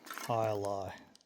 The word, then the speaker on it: alai: Alai. That's how that's pronounced.